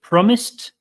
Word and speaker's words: promised: few things happening here promised promised you hear that last sound it's not a D sound it's a t sound and then we have